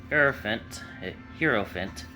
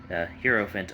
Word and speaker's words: Hierophant: Someone said it's like 4 syllables, and I said like Hierophant, and it's like the HI is a different syllable, so that just threw me off. But Hierophant, trying to find it, and there we go.